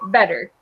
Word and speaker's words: better: If your accent is from England, it's probably, you would say better. On the west coast of the United States, often we pronounce it better. Better with like a D.